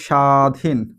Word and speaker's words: স্বাধীন: উচ্চারণটা কেমন হচ্ছে? তক আমরা আরো একটা উদাহরণ দেখতে পারি। আমরা যদি বলি স্বাধীন।